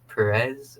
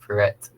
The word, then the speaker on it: Perret: And a lot of people mistaken it with Perez or Parrot, but it's pronounced Perret.